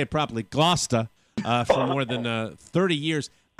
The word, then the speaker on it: Gloucester: more than, or I should say it properly, Gloucester, for more than 30 years.